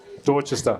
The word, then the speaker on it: Dorchester: now I should have asked you how to pronounce this, but Nagamotswana, Dorchester. What is it? Dorchester.